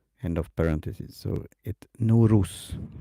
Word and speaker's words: Nowruz: So it Nowruz, how we pronounce that.